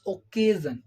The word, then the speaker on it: occasion: be pronounced so that is why we will pronounce this double C here as go as okay okay we are saying occasion okay clear now let's see the last point